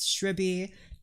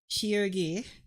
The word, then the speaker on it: Shirgi: I've been pronounced shriby. I've been shriggy. I've been shir. I've been shy. My name is sh hi. She and then r g i g. Shogi. My name is shogi.